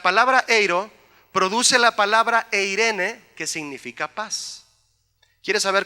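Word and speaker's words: εἰρήνη: Viene de una palabra que se llama eiro, y la palabra eiro produce la palabra eirene, que significa paz.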